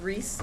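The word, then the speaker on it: Ries: My name is Reese, which is spelled R-I-E-S, and I live at 3203 County Road, Double E in Bailey's Harbor.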